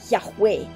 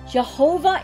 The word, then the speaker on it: Yahweh: of god in judaism jehovah is therefore a modern mispronunciation of the hebrew name yahweh which comes from the consonants of that name with the vowels of the word adonai which means lord and the jews substituted